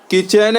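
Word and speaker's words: kitchen: owner H silent है किचन है के आई टी सी एच ई एन तो यहां टी साइलेंट है ऑनेस्ट एच ओ एन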